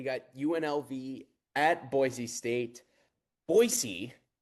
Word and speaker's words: Boise: Boisey is apparently how it's pronounced.